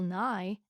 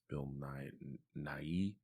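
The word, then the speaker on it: Bill Nighy: you say his name I assumed it was Bill NY n but I think it's just NY honestly that makes more sense the Y is silent I think so that's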